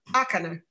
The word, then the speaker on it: Ácana: That was the first Ácana thing I did. The accent is on the first L. Ácana. Ácana.